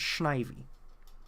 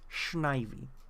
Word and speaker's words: Snivy: I mispronounced that because it's Snivy. It's pronounced Snivy.